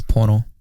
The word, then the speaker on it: Pono: It's not PingPong Po. What's up? It's Pono. That's how you pronounce it, by the way, if there was any confusion ever.